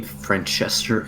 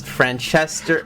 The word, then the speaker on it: Franchester: planning on finding uh is this name francester elude badul is that how you pronounce it it's franchester this is your npc it's